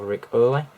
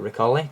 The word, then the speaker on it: Ric Olié: featuring an image of Rick O or Rick oy depending on how you want to pronounce it and you've also got